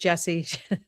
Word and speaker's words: Jessiy: It's IY, but it's pronounced Jesse.